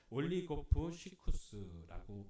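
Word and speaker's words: ὀλιγόψυχος: 마음이 약한 자를 헬라어로 올리고프 시쿠스라고 읽습니다.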